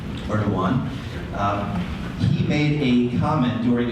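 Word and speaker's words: Erdoğan: Now, I will clarify, his name looks in English like it's spelled Erdogan with a G. I've been told that it's Erdogan. You don't really say the G the way we would here in the United States, so I'll try my best to pronounce it properly.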